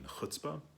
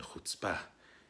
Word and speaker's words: chutzpah: hot spa in it he explored the difference between hutzpah in the Yiddish sense leadership explanation ears pronunciation and hot spa in the Hebrew pronunciation and the difference between